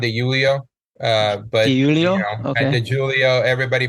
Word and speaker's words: De Julio: It's actually pronounc It's actually pronounced Dulio.